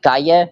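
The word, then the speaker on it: calle: folks say cadilla damn because the Double L is a y for span uh for Spanish espanol see see because like for street it's like Cay but it it it's spelled c a l l e l l Double L okay there is this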